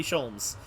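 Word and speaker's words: Sholmes: i mean i have that's not how you pronounce that i have hair please call me scholes i don't want to call you anything when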